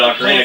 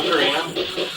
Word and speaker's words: Ocarina: I know you played Ocarina because I remember Yeah, talking about it at one Ocarina, point. or Ocarina.